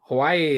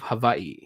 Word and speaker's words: Hawaii: why do you say hawaii well because you know if the w comes if the w is not the first letter in the word it's pronounced as a v and you know it's